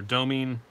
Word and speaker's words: Domine: One is the Kaiser Domine. I think some people call it Domin, but I would guess that it's pronounced Domine, but that's just me, because I am a pretentious jackass.